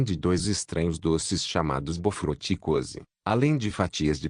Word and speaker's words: bof: dois estranhos doces chamados bof cose além de fatias de pão branco nota do autor bof é pronunciado b frate e cos é pronunciado coal saai o coco era grosso e